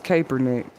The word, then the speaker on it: Kaepernick: I know his name is Kaepernick.